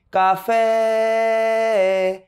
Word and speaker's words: café: Café, café. Você não vai falar café. Você não faz, né? Porque naturalmente nosso aparelho fonador ele tende a pronunciar café, café.